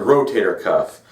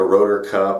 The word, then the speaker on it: rotator cuff: referencing the shoulder is the rotator cuff people commonly say it wrong which is okay you know they don't know any better but it's all a lot of times it's called the rotor cup or the rotator cup uh and again the